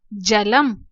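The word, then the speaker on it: जलं: जब शब्द के अंत में ये बिंदी होती है तब हम इसका उच्चारण म के रूप में करते हैं, मकार के रूप में करते हैं, जलम।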